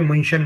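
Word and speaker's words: München: में बात करूं तो मनिक है मनिक इंग्लिश मनिक है जर्मन में मशन बोलते है मु मु मशन जैसे मैक्स मैक्स भवन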